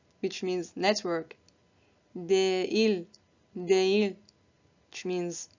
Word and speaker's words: değil: And the second rule is it lengthens the vowel that precedes it and connects it with the vowel that follows.